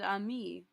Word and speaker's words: amie: Because ami and amie are pronounced the same.